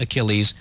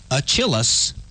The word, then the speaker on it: Achilles: for mythological hero Achilles unfortunately theer pronounced Achilles aillis and lost that's ridiculous it's